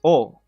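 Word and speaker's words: お: So this is O. Pronounce O, O-H, okay? Not O. Not the way that we pronounce O in English, but O with an O-H rather than an O.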